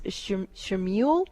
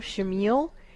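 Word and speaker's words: Chamuel: His name is Shamiel. It's spelled C-H-A-M-E-U-L or U-E-L, Shamiel, and he's coming in very strong and gentle for your daughter.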